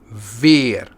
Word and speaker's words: weer: the words beer, zeer, weer, keer, and meer. Then the double E is pronounced as E.